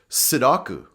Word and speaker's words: Sudoku: I just don't have the patience to do Sudoku puzzles. They drive me round the bend. Sudoku is also used in English, but as you can see, the pronunciation is completely different. Sudoku.